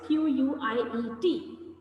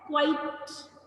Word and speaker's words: quiet: तो इसे बहुत सारे बच्चे mispronounce करते हैं, गलत बोलते हैं. बच्चे क्या बोलते हैं? Quite. Quite बोलते हैं ना? So quite is not the right way to pronounce it. It is called quiet.